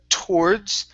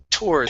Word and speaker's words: towards: Let's go to the word towards. Now here you used a Spanish T saying towards. Okay, give me a t sound. Towards.